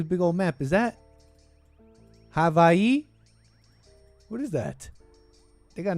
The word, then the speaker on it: Hawaii: Is that Havi? What is that? They got no kinks protest all the way out here. Hawaii. Havi. How do you say that for realies? Hawaii.